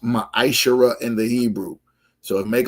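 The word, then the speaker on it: מעשר: It's pronounced maisher in the Hebrew.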